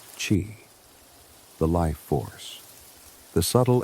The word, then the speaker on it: qi: Everything in traditional Chinese medicine begins with qi, pronounced qi, the life force, the subtle energy that animates all living beings.